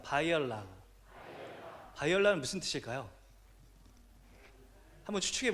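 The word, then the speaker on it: Баярлалаа: 바이올라. 여러분, 제가 설명을 안 해드렸는데 센 베노는 안녕하세요라는 몽골식 인사가 되겠고요. 다시 한번 발음하겠습니다. 바이올라.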